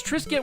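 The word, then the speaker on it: Triscuitt: Well, it's Trisket with 3 T's total. So T-R-I-S-C-U-I-T-T.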